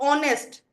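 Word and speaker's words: honest: जैसे ऑनेस्ट अभी मैंने बताया था ऑनेस्ट की तो एक्सेप्शन बताई थी कि एच साइलेंट होता है।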